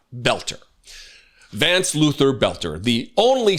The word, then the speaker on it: Boelter: weekend with Vance Luther Belter. Now everybody's calling him Belter, not Bolter. I'm going to try to change the way I pronounce the word because I want to say it right. Belter.